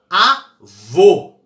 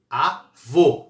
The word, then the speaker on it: avô: não leva acento o eu falo avô avô é duas sílabas a e vou qual que é mais forte é a última avô é oxítona terminada em por leva